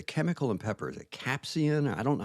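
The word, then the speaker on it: capsaicin: Is it capsian? I don't know how to pronounce capsain.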